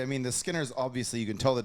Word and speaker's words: Skinner: the back silent y you don't pronounce the J when you say his name just Skinner Skinner just it's just Skinner yeah you don't say J Skinner unlike the Joseph Brothers